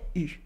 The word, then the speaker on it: eu: an j'ai but no, actually it is an exception and it is pronounced U. Sorry, U, j'ai eu.